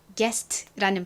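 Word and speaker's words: guest: 있어요 한번 읽어보도록 할게요 자 g와 u가 함께 왔어요 여기서 유소리는 탈락이 되고 기억 소리가 남습니다 자 그리고 다음 2가 왔는데요 이에 대표적인 발음이 뭐죠 아에이오우에이 아이 오유 할 때 그 애 발음이죠 자 다음에 s가 왔습니다 s는 발음이 나죠 그리고 마지막으로 t가 왔네요 t는 티읕 트 발음이납니다 자 연결해 보면 게스트라는 발음이 되죠 한번 따라해 보실게요 게스트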